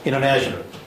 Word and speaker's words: international: international 자, in, ter, tr, ne, na, tion, tion, or, al, international. 다시 한번 해볼까요? international. 발음 쭉쭉 하면은 inter 하던 발음이 international 하면서 액센트는 물론 여기 오죠.